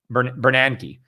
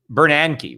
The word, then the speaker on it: Bernanke: that's where I met Bernanke I always pronounce that guy's name wrong somebody was you know kind of call me out yeah it's not it's Bernanke right not Bernanke Ben Bernanke somebody I